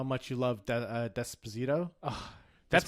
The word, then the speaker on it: Despacito: Desperito? Despacito. See, now you're getting angry that I'm Yes, mispronouncing it It's because you love it's Justin the Bieber it so much.